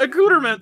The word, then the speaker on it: accoutrement: a cooterman a cooterman google pronounced it a cooterman so yeah all right